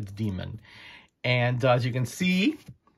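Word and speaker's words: Deemunn: like d-e-e-m-u-n-n but obviously you pronounce it phonetically a demon and as you can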